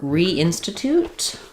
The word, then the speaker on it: reinstitute: Um so institute is stressed on the in syllable. Reinstitute is also going to be stressed there but have a little secondary stress on re. So, it'll keep its tense sound, but it'll be somewhat short.